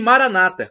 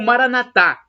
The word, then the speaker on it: Maranata: eu uso de potentes esse Maranata como dizem os protestantes ou evangélicos com a tônica na penúltima sílaba ou Maranatha como dizemos nós católicos com a tônica na última sílaba não importa porque somos